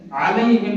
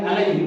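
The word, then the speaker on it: عليهم: চিন্তা করেন এবার আসেন আলাইহিম না বলে আলাইহিম অনেকে বলে চলে যায় অর্থাৎ আইনের উচ্চারণ না করে হামজার উচ্চারণ করি তখন অর্থ হয়ে যায় তাদের পরিবার তাদের বংশ তাদের এখন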